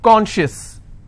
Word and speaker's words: conscious: not apply here okay conscious how many syllables do i have two and i will stress on con con schis okay precious